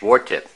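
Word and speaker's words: 鍋貼: Today we're making some, there in Cantonese it's pronounced wartip.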